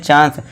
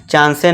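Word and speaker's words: chance: इसी तरह देखिए लास्ट में इ है। तो इसे क्या पढ़ते हैं? चांस। चांसेस नहीं चांस।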